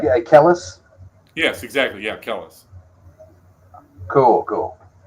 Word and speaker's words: Kellis: So, do we have any Great Heart tracks on hand, or any Tim Kellis tracks? I think I do. I'm pronouncing that right. I'm pronouncing that right. Yeah, Kellis?